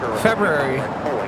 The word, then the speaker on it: February: I don't even think our viewers can agree on how you properly pronounce February. February. February? That's how I say it. I'm seeing February. Well, technically, how it's spelled is an R-U.